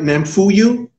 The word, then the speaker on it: Namphuyo: go that's cool that's cool now am I pronouncing your name right name for you oh yeah okay that's that's a beautiful name